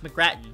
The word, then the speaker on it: McGrattan: arnot i didn't say his name is it's mcgrattan i don't know what i said but i'm